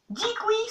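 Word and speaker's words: díky: Dikui, ça s'écrit DQJ. Mais attention, si vous dites DQJ, les Tchèques, ils vont faire comme ça. Attention, ça ne se prononce pas du tout comme ça s'écrit. Ça se dit dikui.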